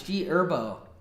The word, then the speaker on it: G Herbo: I love Gerbo. It's also Gerbo. The H is silent, bro. What? The the H is silent. It's G Herbo.